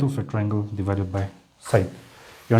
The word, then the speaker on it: sine: using o here and this one for convenience sake is written in short as sin but we have to pronounce it as uh sine or not sin o okay this is